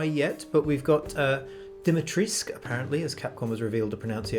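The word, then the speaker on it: Dimitrescu: don't know why yet but we've got uh dimitrisk apparently as capcom has revealed the pronunciation of vampire lady's name heisenberg is a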